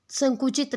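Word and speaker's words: sake: cracks होता है narrow gaps opening यानी कि संकुचित रास्ते बड़ी मतलब दरार आप जिसको बोल सकते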